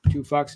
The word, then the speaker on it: 2PHUX: Two Fucks is 2PHUX.